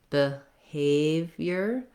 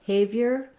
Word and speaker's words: behavior: You can also start on the stress syllable, behavior, behavior, if you're having trouble getting rid of that B sound at the beginning. That's a good strategy for words with second or third syllable stress, is to help your brain think of that stress syllable as being the important part.